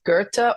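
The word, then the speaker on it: Goethe: because people will say it's a quote by Gerta which is g e t h but it's pronounced Gerta or else it's from some dude that climbed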